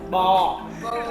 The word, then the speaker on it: bò: Bò. Yeah, bò. Et pour dire bœuf, on dit "bo". My boy. No, you say it, Say bò.